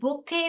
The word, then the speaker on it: bouquet: ये side word जैसे है, ये क्यू जो है साइलेंट है, वहां पे बुके क्युट नहीं पढ़ने का, बुके बुके।